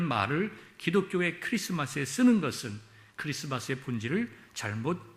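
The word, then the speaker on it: Xmas: x 마스 로써 있더라도 x 마스 라고 읽음 은 안되고 크리스마스 라고 읽어야 합니다 그런데 역설적으로 이 엑스 마스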